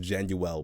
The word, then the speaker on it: Januel: It's actually pronounced Januel, but I like how Januel sounds better, so it's Januel today.